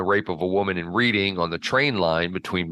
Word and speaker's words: Reading: warmwood Scrubs prison reading I'm sorry it's reading it looks like reading but it's reading oh is it yeah well they shouldn't spell it that way no they shouldn't that's